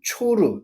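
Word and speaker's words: צור: 그래서 약 30km 정도에 있는 성경에 있는 옛날 성경에는 두로 세계 성경에는 초르 이브리어 발음은 초르입니다.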